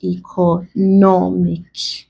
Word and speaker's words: economic: So we stress the penultimate or second to last syllable. It's ending with IC. So that becomes economic.